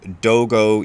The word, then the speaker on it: Dogo: and I'm going to read it to you and in this version we're using the Japanese pronunciation of the characters names so Dogo equals Dow Wu and Zen gen equals